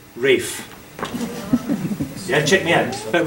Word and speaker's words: Ralph: But in England English, we don't pronounce Ralph Ralph. We pronounce it Rafe.